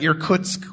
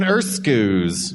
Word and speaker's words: Irkutsk: people reading the board, nobody can say Kamchatka, Irkutsk, or Yakutsk, which is how they're all pronounced. Yeah. That's just hilarious to hear people try to pronounce the names of countries. I'm going to attack you in Erskuz.